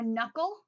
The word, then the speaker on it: knuckle: Or knuckle, the word knuckle starts with K, but it has a silent K, or the word knife starts with a K, but it's a silent K.